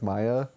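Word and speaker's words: Maja: always butcher her name it's spelled m-a-j-a but I think you say like Maya um Maya moldenhauer she's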